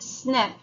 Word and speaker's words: SNP: a single nucleotide polymorphism abbreviated SNP pronounced snip is a variation in